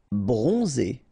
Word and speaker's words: bronzé: Bronzé, so O-N, on, and then Z, it's really pronounced like Z.